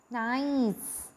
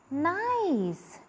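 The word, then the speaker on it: gneiss: have which is called nice G is silent here but the spelling is G and E I F s in the first point I have mentioned that it is pronounced as nice it is pronounced as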